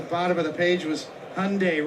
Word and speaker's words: Hyundai: And at the bottom of the page was Hyundai rhymes with Sunday.